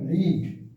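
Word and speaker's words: read: यहाँ अगर हम कह रहे हैं रीड, तो ये हो जाएगा रेड। ओनली प्रोनाउंसिएशन चेंज करेगा, रीड का रेड हो जाएगा, यहाँ भी रेड होगा, यहाँ हो जाएगा रीडिंग, ये हो जाएगा रीड्स।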